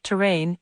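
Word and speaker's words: terrane: by plate tectonic processes notice that terrain is a different word from terrain the two are pronounced the same but terrain refers to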